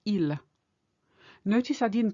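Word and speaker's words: ils: so you would say ill notice I didn't pronounce the S I didn't say or El no it's El normally a final s is never pronounced the reason I pronounced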